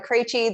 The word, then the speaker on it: Krejci: am my name is Martha creachy that is how you pronounce all of those consonants together really close I am a